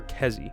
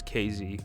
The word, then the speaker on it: KZ: Let me look up, is it pronounced KZ or Kezi? It is KZ.